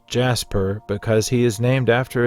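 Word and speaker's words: Djas Puhr: throwaway alien we do know the name is pronounced Jasper because he is named after a decipher employees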